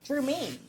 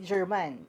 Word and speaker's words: germane: Germaine. Anong ibig sabihin niyan? Pag-usapan natin 'yan sa video na ito. Germaine ha. Hindi German. And Germaine spelled like that.